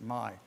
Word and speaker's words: MI: login because in michigan everything starts with mi and you pronounce it my so you go to my login create a login then